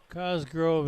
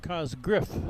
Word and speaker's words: Cosgriff: Cosgrove is in. Cosgriff, excuse me. I mispronounced his name.